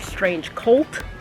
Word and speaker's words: Strange Cvlt: know you see kids it's spelled like this but I'm 98% sure that it is pronounced strange cult I'm pretty sure that